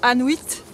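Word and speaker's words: Annuit: Et à savoir qu'il y a un petit hameau ici qui s'appelle Anuit. Ça s'écrit A-2-N-U-I-T, ça sonne comme Inuit.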